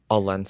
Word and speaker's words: Alençon: A lensan.